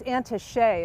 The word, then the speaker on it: Auntie Shay: Known by friends as Auntie Shay is actually the correct pronunciation of that.